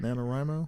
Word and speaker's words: NaNoWriMo: the nanowrimo is that how you say it nanowrimo yep national novel writing month yep yeah i'm